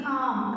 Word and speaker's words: calm: L is silent there. It is spelled as calm.